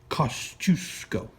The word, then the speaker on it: Kosciuszko: That's how you pronounce the county name. Kosciuszko.